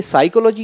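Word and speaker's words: psychology: देख रहे होंगे कि यहां पर पी वर्ड है फिर भी यहां पर साइको अपन क्यों कह रहे इसको तो पी वर्ड होता व साइलेंट होता है ठीक है ना तो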